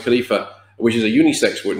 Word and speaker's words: khalifa: word for human beings is khalifa which is pronounced khalifa which is a unisex word name and depending